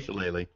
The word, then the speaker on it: shillelagh: on my quarterstaff, the Shillalog, or however you pronounce it. Chalet? Shillelagh? Shillelagh.